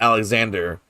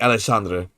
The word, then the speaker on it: Alexandre: Like his name is not Alexander. The X, it's like Chandra, Alexandra. And so I learned that accent. I learned how to say his name, you know, obviously just to him. Alessandra. He makes tabletop card games for a living. That's his job. Yeah, it's like Alessandra. Literally how you say it.